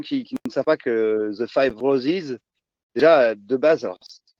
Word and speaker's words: The Five Roses: Mais c'est vrai que quand on prononce The Five Roses, ça fait, entre guillemets, en anglais, c'est les 5 roses. On n'entend pas, ça se prononce exactement pareil.